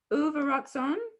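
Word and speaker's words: ובְרָצוֹן: Is the first letter vu? No, it's just ooh. Ooh, sorry. Uvarutson.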